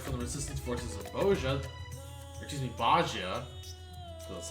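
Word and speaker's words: Bozja: In fact, we've recently received word from the resistance forces of Bajia, that's how you pronounce it, that a blasphemy was slain, thanks to no smart part to Lord Hien's timely assistance.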